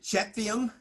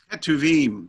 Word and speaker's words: Ketuvim: Torah, and then Nevi'im, and then I can't pronounce it, Ketuvim. Ketuvim or a Ketuvim.